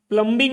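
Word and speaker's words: plumbing: है repairing service है प्लम प्लंबिंग नहीं बोलते उसको प्लंबिंग नहीं बोलेंगे प्लंबिंग होता है व क्या होता है गाठी प्लंग गावठी पर्सन इतना भी नहीं पता है कि बी साइलेंट है उसम तू गया है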